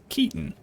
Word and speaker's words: Keaton: Keaton. Like Michael Keaton.